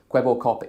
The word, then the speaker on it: Kwebbelkop: I think I'm pronouncing that right. Yeah, no, it's perfect. Okay, so for people that don't know, Kwebbelkop is like a reacts YouTuber, does a lot